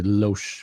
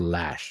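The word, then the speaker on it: Loesch: from you know Dana I want to say Lo but apparently it's pronounced lash you know who this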